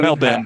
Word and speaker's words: Melbourne: Melbourne. How do you pronounce Melbourne?